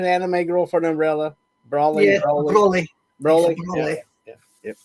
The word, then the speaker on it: Broly: Is that the correct pronunciation? Anime Girl for an umbrella. Broly.